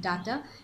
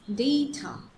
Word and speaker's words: data: then comes Hotel it's it's not data it's data data it's called Data then I'm ironing my